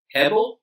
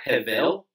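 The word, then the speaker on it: הֶבֶל: if you are here that's the word hebel or hevel depending on how you want to pronounce that in hebrew and i know most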